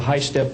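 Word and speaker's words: HySTP: and also on the the high step program that's spelled h-y-s-t-p means Hypersonic test bed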